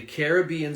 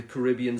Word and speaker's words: Caribbean: the United States so you have the Caribbean Sea or the Caribbean Sea there are two ways to to say it and that of course